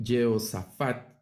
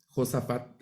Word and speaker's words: Josafat: el señor ha fortalecido eh yosafat sería la pronunciación en hebreo Josafat así lo hemos recibido nosotros el señor es juez yoab